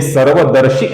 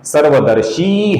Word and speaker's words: सर्वदर्शी: में पहला नाम है सर्वदर्शी। ये श है। ये श नहीं है। श है। ये श है और ये दीर्घ है। तो इसका लंबाई से उच्चारण होगा। दोस्तों ये सर्वदर्शी नहीं है। सर्वदर्शी है।